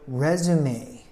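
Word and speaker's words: résumé: you should update your resume the game will resume when the rain lightens up resume actually is originally a French word but it's three syllable word resum the me sounds like an Ma and it's a piece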